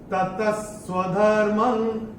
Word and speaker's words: ततः: का अक्षर है स, और विसर्ग के बाद अगर श या स आता है तो विसर्ग का उच्चारण श या स होता है आधा। तो ये कैसे होगा इसका उच्चारण? ततः स्वधर्मं।